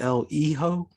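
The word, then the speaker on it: El Hijo: hijo a wild west i think it's l e ho yeah because i think the h goes silent and i think the j kind of goes like an h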